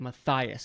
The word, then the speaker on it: Matthias: name right and so if you look at how it's like sound it's like Mathias and so I'm like